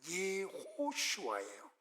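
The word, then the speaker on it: יהושע: 히브리어를 그대로 발음하면 뭐냐면 예호슈아예요. 예호슈아는 두 단어의 합성어예요.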